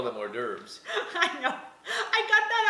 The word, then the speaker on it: hors d'oeuvre: hors d'oeuvre.